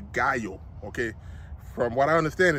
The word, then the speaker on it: Gallo: balls to find out how to pronounce it it is called a guyo okay from what I